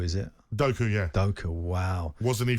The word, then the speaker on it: Doku: How do you pronounce his name? Doku, is it? Doku, yeah.